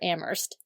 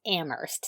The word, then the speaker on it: Amherst: Is it Amherst or Amherst? You know, the thing about Massachusetts is they they pronounce everything weird.